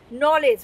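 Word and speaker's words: knowledge: নো আমরা নো বলছি অথচ এখানে নলেজ কে আমরা নলেজ বলছি না আমরা কিন্তু কি বলছি নলেজ মানে জ্ঞান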